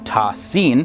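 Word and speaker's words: Ṭā Sīn: the clear book now the term ta and sin which are written as single unit and pronounced together as tossine the first letter appears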